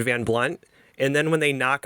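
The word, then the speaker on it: Van Blundht: really great comment about the H is silent in Van Blunt and then when they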